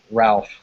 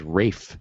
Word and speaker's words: Ralph: Joseph or Ray fine pronounce in America as Ralph I always thought it was Rafe wasn't it okay Dave